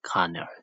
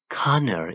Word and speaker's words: colonel: Force Conner George is a retired Air Force Conor Connor is the military officer of high rank of